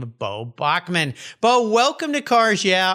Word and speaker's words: Boeckmann: my last name and how to pronounce it in Bachman it's a it's a German name of German Heritage and actually my great-grandfather